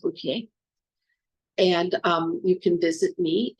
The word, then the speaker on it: Bouthillier: Looks like Bouthillier, but it's pronounced Bouthillier.